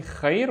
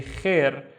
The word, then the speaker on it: خير: Instead of saying Khayr, we say Khair, Khair, Sabah, Khair.